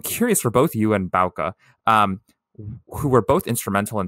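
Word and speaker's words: Bouke: You publicly said that you and your partner, and forgive me if I'm butchering the pronunciation here, Bauke. I'm totally off. Okay. Bauke. Yeah, Bauke. So Bauke is spelled... Don't feel ashamed. It's a very Dutch thing.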